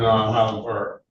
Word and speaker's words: Highland Park: I pronounce it as it's pronounced in the dictionary. Silent H. Born in Highland Park.